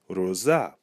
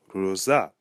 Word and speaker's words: Rosa: Rosa in Creole would be Rosa. Rosa. So we hear that the final syllable, za, has the emphasis.